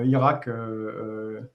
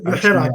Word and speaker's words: Hirak: Et puisqu'on t'a sous la main, où en est le mouvement Irak je ne sais pas si je prononce bien Hirak. Le Hirak, oui, le Hirak.